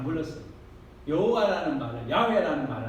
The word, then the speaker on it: 야훼: 하나님이시니 그래서 여호와 하나님은 독일 사람들이 히브리어를 번역하면서 야훼라는 발음을 독일식 발음으로 제호바, 여호와 이렇게 해가지고 지금 제호바 이렇게 여호와 됐지만 우리는 야훼 하나님으로 명명하는 것이 옳습니다. 그것이 더 히브리어 원어에 가깝고 그래서 야훼 하나님이다.